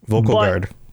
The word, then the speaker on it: Vulkhel Guard: Vulkhel But, that's As soon as I say that, I think of the word vocal, like to vocalize something. And then I'm like, "Ah, that's not how that's pronounced." Yep. Vulkhel Guard.